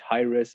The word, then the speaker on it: Hiraes: And so we put an S at the end and replaced this TH. And so, yeah, then we had Hiraes, and still we have this meaning of the name.